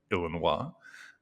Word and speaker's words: Illinois: my last visit in the great state of Illinois, or as the locals say, Illinois, I tried Lucky Charms for the first time.